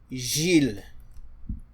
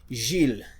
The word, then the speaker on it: Gilles: When G is followed by E or I or even Y, then you pronounce it as J.